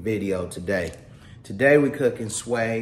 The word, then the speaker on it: swai: today today we cooking sway s however you pronounce it I'll pronounce it sway WS WS a I um today we're going